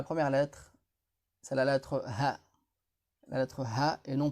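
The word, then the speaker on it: هَ: On prononce ça Ha. Et non pas Hu ni Hi.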